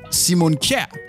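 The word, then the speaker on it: Simon Kjær: funny letters how about my danish compatriot simon simon who's actually called simon k in danish or the manchester united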